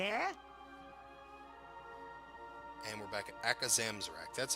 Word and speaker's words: Akazamzarak: talents and abilities yeah and we're back at akazamzarak that's how you say his name so you're